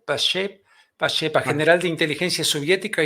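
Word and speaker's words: Pacepa: La teología de la liberación, creada por el KGB para destruir la iglesia desde dentro, así lo afirma Ion Mihai, ¿cómo se pronuncia? Pashepa, general de inteligencia soviética y el desertor de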